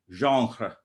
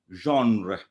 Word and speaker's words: genre: sorry not gender genre in french it would be somewhat like zhang so in modern english we cannot pronounce it as wrong because we don't know the hara sound which is in french so the approximate thing would be genre so this problem we